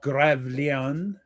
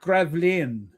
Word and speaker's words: Gravelines: In a 9-hour battle of Gravelines. The English fleet. No, it's called Gravelines. Gravelines. I mean, the English always pronounce it as Gravelines.